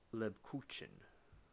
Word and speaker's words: Lebkuchen: Lebkuchen. All right, we docked. We dock, we dock, we dock. I said it right. It's Lib Kuchen.